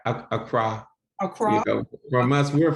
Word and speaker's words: Accra: i know that um now is that acro ghana is that how you pronounce it a cry a croc from us